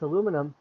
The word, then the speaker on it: aluminium: is spelled differently yeah in american english we write it as aluminum in british english it's spelled aluminium a-l-u-m-i-n-i-u-m so aluminium or aluminum depending upon if it's american or british spelling and then then we